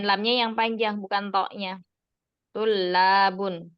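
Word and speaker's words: طلاب: Kalau tulabun itu jamaknya. Kalau tolibun itu mufradnya. Berarti setelah to-nya ada matnya. Itu kalau mufradnya tolibun. Kalau jamaknya to-nya itu domah, bukan fathah lagi.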